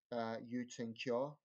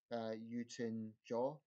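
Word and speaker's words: Htin Kyaw: the president of Burma you tink jaw I think that's the correct pronunciation I'll try again you tin jaw I think the K in Burmese is pronounced as a J under you years sort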